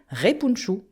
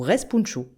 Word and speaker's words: respounchous: le net, mais attention, vous verrez écrit spounchous de façon phonétique, mais vous le savez, le O se dit ou et le N final ne se prononce pas. On écrit donc repunchu ou respunchu.